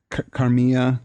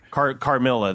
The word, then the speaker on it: Carmilla: I mean, it's not obviously sexual or Carmilla. That's what it's called. Carmilla or Carmilla. I don't know if it's pronounced. Carmilla. Okay. Yeah. If it's Italian, it's Spanish. It's Carmilla. If it's Italian, it's Carmilla.